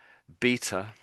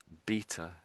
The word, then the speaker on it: beta: So as I say both of these words, you you hear how similar similar they are. So beta and bitter. Beta and bitter. Yeah. So I guess what I'm highlighting is the a on the end just sounds very similar to the eer there.